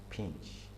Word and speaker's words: PNG: Alright, we have the PNG, which is pronounced pinch.